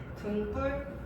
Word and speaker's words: 등뿔: 등과 뿔이 더해졌어. 우리가 발음할 때 어떻게 해요? 등뿔, 등뿔이라고 하잖아.